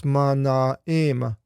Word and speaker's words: Manaim: be a Manaim, but with the diaresis, the double dot, you split the diphthong into the both vowels and pronounce each vowel. So it's Manaim.